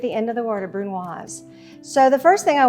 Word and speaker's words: brunoise: A really small dice is called a brunoise. Pronounce that S as a Z. It's got an E at the end of the word, a brunoise.